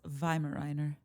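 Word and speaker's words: Weimaraner: And I also think if we're getting really technical, it's pronounced Vimemer.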